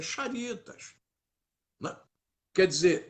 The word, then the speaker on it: Charitas: Porque Charitas é com CH. Então a pronúncia não é Caritas, a pronúncia é Charitas.